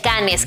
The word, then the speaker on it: Cannes: La edición número 71 del Festival Internacional de Cine de Cannes, que en realidad se pronuncia Cannes, inició este martes 8 de mayo y desde entonces el tema ha sido trending topic.